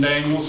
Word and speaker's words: Daniel: my name is scott kohler i've lived in daniels for 34 years daniel if you want to pronounce that i've been here so long at